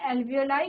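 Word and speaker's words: alveoli: एल्वियोलिया, देखो इंग्लिश में एल्वियोलाई इसका प्रोनाउंसिएशन होता है, हिंदी में आप एल्वियोली इसको लिख सकते हैं, ठीक है।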